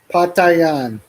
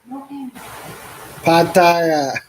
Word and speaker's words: Pattaya: Pa Thai Yan. Is that how you say it? Patayan. Pattaya. Say it again. It's like torture. There's no end on it. But how do you say it without the end? Pattaya.